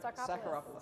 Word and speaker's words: Sakharopoulos: Anthony, help me out, Sarkopoulos? That's actually very good. Sakharopoulos. Sakharopoulos, exactly, right, like the Acropolis.